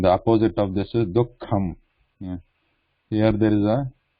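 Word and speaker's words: दुःखम्: So we are not pronouncing this Visarga completely here, like Duhu.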